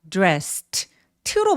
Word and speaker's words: dressed: 이거 이유는 뭐냐면 dress처럼 성대가 올리지 않는요 바람 소리로 끝났다. 성대가 울리지 않는 소리로 끝났으니까 내 눈에 아무리 e가 보이더라도요 e는 발음하지 않고이를 통째로 어떻게 발음한다? t로 발음합니다.